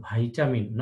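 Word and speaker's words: vitamin: ভিটামিনের সঠিক উচ্চারণ ভাইটামিন, নট ভিটামিন, কিন্তু আমাদের দেশে ভিটামিন হিসেবেই চলে কথাটা, আমরা ভিটামিন এই জন্য বলি।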